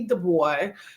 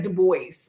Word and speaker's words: Du Bois: Du Bois. I say that right? I used to say Du Bois, but I always like to pronounce every single letter. But it's Du Bois, right?